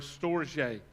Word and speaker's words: storge: The third word, if you're going through this with us, is the word, the way you pronounce it, it looks almost like storage. That's not it. It's the word storge, S-T-R-G-E.